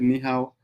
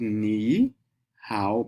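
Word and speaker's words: 你好: So that is why I didn't call it ni hao. I call it ni how, because I'm looking at the accent.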